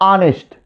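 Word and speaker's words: honest: ऑनेस्ट। क्या पढ़ा जाएगा? ऑनेस्ट। क्या पढ़ा गया? ऑनेस्ट। देखो एच से शुरू हुआ, उच्चारण क्या हुआ? अ।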